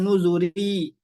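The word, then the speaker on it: نذر: yang kita pilih ya yang kita pilih adalah yang ditipiskan yasr yasr ditipiskan nuzur juga di ditipiskan ya Meskipun boleh ya tebal atau tipis ya ini di surah alfajr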